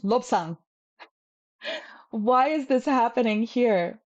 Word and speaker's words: Lobsang: We don't say lopsang, we say lobsang.